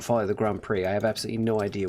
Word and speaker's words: Grand Prix: Took me until age 10 to realize that Grand Prix was not pronounced Grand Pricks.